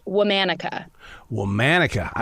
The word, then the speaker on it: Womanica: of the name of the podcast it is pronounced womanica well manika I like that now where'd that